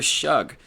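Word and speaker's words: Shough: I think that their quarterback, former Oregon transfer Tyler Shugg, is how you say his name.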